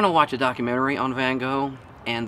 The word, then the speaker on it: Van Gogh: on Van Gogh and the people were insisting on pronouncing his name Van Gogh or something to that effect apparently that's the more accurate rate great way to pronounce his name van gool it sounds ridiculous just